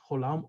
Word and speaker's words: Cholam: In the O family, we have Cholam, O, or even in some Ashkenazi pronunciation, and the Kamatz Katan, which is O, Chodoshim.